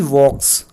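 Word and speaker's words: walk: इस क्वेश्चन में प्यारे बच्चों वॉक वर्ब का यूज़ किया गया है, जिसका अर्थ होता है चलना, और इस वर्ड में एल साइलेंट है।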